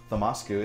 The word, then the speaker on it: Thamasku: Thamasku is how you say it, yes.